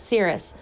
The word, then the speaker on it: Sirius: of these special dogs my name is pronounced cirrus cirrus is the name